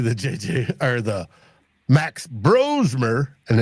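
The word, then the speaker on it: Brosmer: JJ or the Max bromer and it's pronounced bro and not bras uh bromer bro is the you like the party to Trey Lance Well, party got drafted, albeit last.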